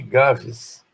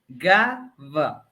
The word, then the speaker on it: Gava: Opa, eu estou vendo ali que o meu nome virou Gaves. Opa, isso deve ser naquelas pronúncias que estavam tentando impor a Gaves. linguagem woke. Meu amigo. É Gava.